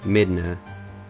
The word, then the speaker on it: Midna: But anyway, her English name would be pronounced Midna, and her Japanese name is pronounced Midana.